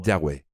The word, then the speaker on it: Yahweh: Cómo se pronunciaran Bueno cuando ponemos las vocales en el nombre las H casi desaparecen se convierte en yahwe pero voy a presentar